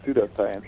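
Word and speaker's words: pseudoscience: to know what a pseudo science is O pseudo science with the silent P yeah um whatever that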